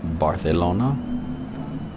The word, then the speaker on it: Barcelona: the authentic spain spanish pretty sure these cs are pronounced as th in that part of the world barcelona let's not botch this